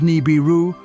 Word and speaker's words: Nibiru: Nibiru is pronounced as Nibiru, Sumerian, crossing place or planet that goes across the skies.